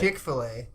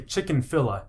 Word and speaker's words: Chick-fil-A: It's because it's Chick-fil-A, but you say chicken-filla. Yeah. So you add a syllable and then Yeah. you mispronounce the second Yeah, two.